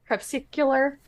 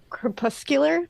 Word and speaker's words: crepuscular: How do you say this word? Crepsicular crepuscular. Kpuscular.